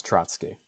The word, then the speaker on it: Trotsky: yes, Trotsky.